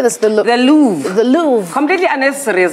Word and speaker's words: Louvre: The Louvre. The Louvre. Completely unnecessary as well. Louvre.